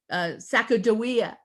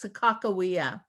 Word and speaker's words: Sakakawea: Now, many people usually think of, you hear the word Sacagawea, but the tribe themselves say her name is properly pronounced as Sakakawea.